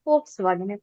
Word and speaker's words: Volkswagen: So if you are not if you do not know this then you will end up pronouncing or all of us have done Volkswagen but actually it is going to be folkswagen. You have also heard that